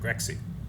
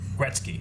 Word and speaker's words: Gretzky: It's true, Gretzky. I said it wrong. How you say it? Huh? Wayne Gretzky. Gretzky, that's how you say Well, it.